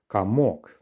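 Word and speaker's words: комок: anything special come walk why is it that the second letter or is pronounced as if it's a letter A kamok clearly we can see it's a letter or so what's happening and that's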